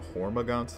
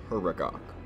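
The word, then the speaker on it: Huragok: Engineers which I made the mistake of calling hormon the last time I talked about them but let me assure you it is pronounced herok and the leolo or the hunters both would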